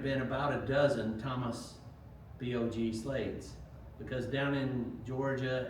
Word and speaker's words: Bog: As it turns out, uh the middle name Bog is pronounced a couple different ways. Um I think here they say Vogue, which reflects more of the French in the history.